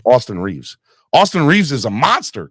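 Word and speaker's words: Austin Reaves: right Austin Austin Reeves I keep on saying Austin Rivers Austin Reeves Austin Reeves is a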